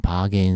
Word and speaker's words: bargain: bargain sale 그렇게 쓰는데 실제 발음은 bargain 이렇게 발음하죠. 예, 발음 기호를 참고하세요.